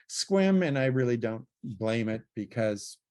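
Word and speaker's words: Sequim: So it has a huge range, but obviously it doesn't know how to say squim, and I really don't blame it because squim kind of confuses a lot of people.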